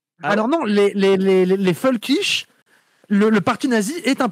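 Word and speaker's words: völkisch: Alors non les les les folkich le parti nazi est un parti folkich. Et folkich c'est volkich en allemand. Ah ouais. Ah parce que les V ça prononce F.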